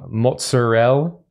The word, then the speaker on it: mozzarella: some Tomatoes bought some mozzarell mozzarella that's how you say it in New York we bought some uh